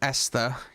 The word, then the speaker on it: Esther: I'm just gonna say Esther and just to assume the H is silent.